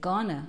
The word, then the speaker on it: going to: Veja como eu pergunto sobre os planos de alguém usando going to, lembrando que a pronúncia vai ser gonna, ok?